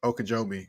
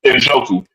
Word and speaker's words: Njoku: And then of course Okojobi, you got to mention him, Okobi, or I can't remember. I mispronounced his name anyway. But anyway, the tight end for the Browns. Oh, Njoku.